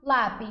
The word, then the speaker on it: lápis: Então, como que eu separo lápis, gente? Eu separo lá, pis, certo? São 2 sílabas. A sílaba mais forte é a segunda de trás para frente.